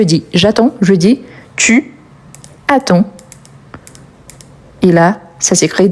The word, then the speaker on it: attend: Donc on a il attend. Donc vous voyez bien que j'attends, tu attends, il attend. Par rapport à la prononciation, c'est exactement la même mais on les écrit différemment.